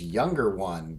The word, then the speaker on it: YXNGXR1: His name is Younger One, but it's spelled, it's even hard for me to spell at this point still, but it's YXNGXR1.